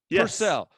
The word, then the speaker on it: Purcell: purcell with did i say that right purcell yep you got it get your marriage on